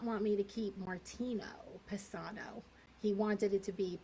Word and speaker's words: Paisano: Paisano. Paisano? Paisano. So you almost say it like there's a B in there, to me.